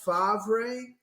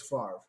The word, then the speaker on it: Favre: came out you had sports announcers going fav is that how you pronounce that is it Brett fav Ray which is weird too he had to connect correct people and go it's Favre which is hard because